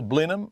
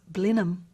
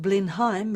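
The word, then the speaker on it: Blenheim: woken a sleeping giant you can tell the locals from The Outsiders by the way they pronounce blenham call it blindheim like the once trendy 1980s casked wine and you'll be met with a parochial smirk the group driving the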